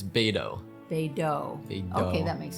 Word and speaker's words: Beidou: Yeah, it's Beidou.